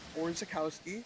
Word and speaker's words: Orzechowski: Here's Orzechowski, right? did I say it right? Yeah, perfect, man.